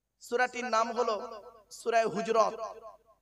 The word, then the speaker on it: হুজরাত: তার নাম হলো সূরা হুজরাত কি বললাম বাপ সূরা হুজরত কি বললাম হুজরাত নামটা উচ্চারণটা ঠিক করে করুন সূরা হুজরাত সূরাটির ভিতরে আছে দুটি